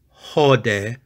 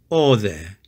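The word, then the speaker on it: ὧδε: horse It Is Us the third word is or there or there it is not hode but it is all there and it means here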